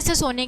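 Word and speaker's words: tsetse: सीसी मक्खी से। ठीक है? यहां पर टी साइलेंट है।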